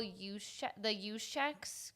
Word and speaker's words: Juszczyk: And my third one is I want to see where Kyle Juszczyk goes. Yeah. How do you say the last name? Perfect.